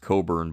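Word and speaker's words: Cockburn: Coburn uh town and Coburn Harbor here that's pronounced Coburn by the way otherwise it would be painful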